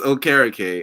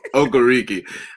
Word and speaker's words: Okereke: Well, if you want to be correct, it's Okereke. I'm going to continue to be wrong and say Okereke, no matter how productive he is.